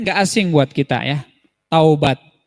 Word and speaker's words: taubat: asing buat kita ya Taubat tapi juga orang ada yang menyebutnya tobat tobat padahal kalo ngikutin ejaan Arabnya itu tahu Hai berkata-kata